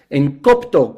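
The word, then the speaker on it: ἐγκόπτω: Y bueno, la palabra estorbo viene del griego en copto, con K y con A y con acento en la primer O.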